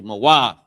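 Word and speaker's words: מות: How it's pronounced ma. Character wa and the character th connected. Moah. Okay. Moath.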